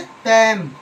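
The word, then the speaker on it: palm: पैम। तो पी ए एल एम पैम। तो एल से पहले ए आ गया है और एल के बाद एम आया है। तो क्या है? एल साइलेंट है।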